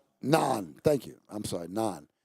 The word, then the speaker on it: naan: Is that Is that how you pronounce it? Look it up. Naan.